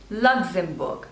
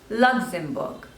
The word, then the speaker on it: Luxembourg: Libya next is Luxembourg Luxembourg so there are three slavers and the stress is on the first one Luxembourg luxembourne next is Madagascar